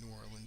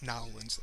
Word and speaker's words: New Orleans: I have a cousin that works down in as a doctor in New Orleans, so she educates me. It's not New Orleans or New Orleans, it's Nolens, like locals say.